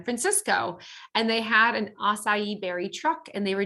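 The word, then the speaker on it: açaí: is the acai berry and that's how you pronounce it acai um the acai berry is small round black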